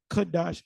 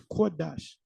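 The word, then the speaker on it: קודש: It's not Kadash, it's Kodash. So learn how to pronounce.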